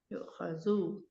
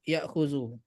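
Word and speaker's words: يُؤْخَذُ: Itu bacanya yu'khazu atau ya'khuzu. Nah, kalau Tunggu sebentar. Yu'khazu Ustaz. yu'khazu Diambil. ada seperti ini ya. Yu'khazu. Ini yuk bacanya. Ada wawu, hamzahnya di atas wawu berarti sebelumnya harusnya domah.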